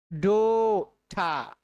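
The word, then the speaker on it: daughter: বলতে হবে bold hold ডোটা খেয়াল করুন এ ইউ তে কিন্তু ও হচ্ছে এখানে এ ইউ আছে এ ইউ এই কমন লেটার অর্থাৎ এ ইউ তে ও সাউন্ড হচ্ছে ডোটা আমরা এটাকে কি বলি ডটার বলি এটা কিন্তু ভুল উচ্চারণ ডো ঠা ডোঠা এরপরে আছে আ সাউন্ড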